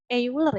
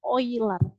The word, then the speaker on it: Euler: lintasan dan sirkuit oiler bacanya bukan euler ya tapi oiler ya apa sih Bu bedanya